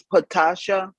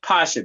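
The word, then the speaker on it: Pascha: Did you say her name was Patasha? No, Pasha, P-A-S, and then Cha, C-H-A.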